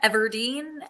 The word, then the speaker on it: Everdeen: I know Katniss Evergreen. I watched that movie twice. he says the last name wrong again. Evergreen, Everdeen, Ever Seen.